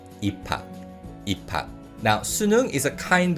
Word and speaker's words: 입학: And in terms of pronunciation, with this word 입학, because of the 피읍 받침 in the first syllable and the 히읗 consonant used in the following syllable, this word is pronounced 입학.